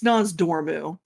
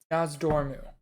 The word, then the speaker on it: Nozdormu: It's Nozdormu. Nozdormu. Yes, I put the R in the wrong place on that name every damn time.